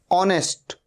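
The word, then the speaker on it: honest: अवर अवर मतलब घंटा ऑनेस्ट ओ से शुरू हो रहा है साउंड ह का साउंड नहीं ए रहा है ऑनेस्ट मतलब ईमानदार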